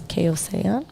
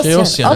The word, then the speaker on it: Kassarjian: I don't want to butcher her last name, but from the way I can pronounce it, it's Kaosean. Oh, Kiosian. Oh, Kassarjian.